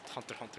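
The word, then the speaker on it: Hunter × Hunter: know what i'm saying even if the author does pronounce it hunter hunter himself it's fine you know what i'm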